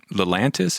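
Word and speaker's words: Lelantus: But anyways, just to kind of switch back to an earlier topic when you were talking about Lelantis, is that how you pronounce it?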